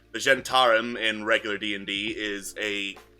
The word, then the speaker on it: Zhentarim: it starts with an it starts with the z and it's very hard to pronounce don't you mean zendari no h how the do you sound ch sounds we've always just pronounced it zentar well you pronounced it wrong yeah all right